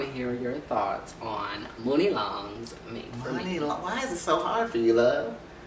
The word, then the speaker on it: Muni Long: Muni is Money. I just Muni like... is Muni. Right, but it's pronounced Muni Long.